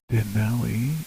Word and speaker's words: Denali: holiday especially that we would remove the flag Denali is how it's pronounced what's Dali oh is that I don't